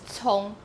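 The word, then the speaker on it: 蔥: Okay, and the same thing, other than celery, you would have scallion, because scallion is pronounced as cong, and cong is a harmony with the word for being smart, 聪明.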